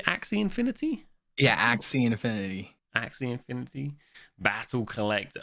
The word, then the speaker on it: Axie: ax how do you say axe infinity yeah axe c infinity actually infinity battle collect urn um and